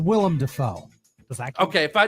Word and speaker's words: Willem Dafoe: names like Halle Berry William Dafoe Lance Riddick and Lawrence Fishburne damn it Todd all right Powers his name's Willem Dafoe okay if I pronunciation